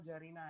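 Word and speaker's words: czarina: तो मेल है तो जार है और फीमेल है तो जरीना है, इसमें सी साइलेंट है, ठीक है।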